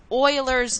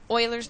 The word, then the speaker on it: Euler's: going to talk about is what's known as Euler's number and that's how you pronounce it kind of sounds like wailers Euler's number now Oilers number is approximately 2.71828 it's another really important